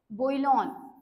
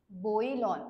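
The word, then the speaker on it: bouillon: तो आपला आजचा आहे बोईलन बोईलन याला प्रोनान्स असं करायचं बोईलन आणि त्याची स्पेलिंग काय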